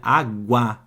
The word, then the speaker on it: água: pronunciada não tem dígrafo olha água tá vendo que agora eu tenho o u do lado do g igual era lá na guerra mas ó guerra não escutei o u dígrafo água escutei o